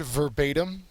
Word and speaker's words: verbatim: Second to last word, verbatim. Verbatim is both an adjective and an adverb. Okay, and the second syllable is accented.